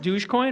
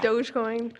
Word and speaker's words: Dogecoin: Um and it's pronounced douchecoin or dogcoin. I don't think it's pronounced douchecoin. It's not douch. It's not douchecoin. You should just say it that way though. But it is now for it is now. Dogecoin. Dogecoin. Dogecoin.